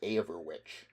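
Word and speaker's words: Eoferwic: That was how the Danes pronounced aver witch.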